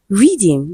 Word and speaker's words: rhythm: Option B, we have rhythm. Letter H is silent in rhythm.